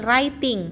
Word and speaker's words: writing: Jadi W-nya tidak dibaca ya. Jadi writing menulis ya.